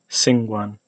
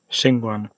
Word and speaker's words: 𐍃𐌹𐌲𐌲𐍅𐌰𐌽: So, sha, that's this retracted S. This S is like, in English, sa, singwan. This is shingwan.